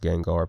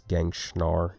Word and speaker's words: Gengar: I know it's pronounced Gengar, but it's Gangschnar on this channel.